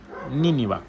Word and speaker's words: Nínive: Nínive, con acento en la I, Nínive.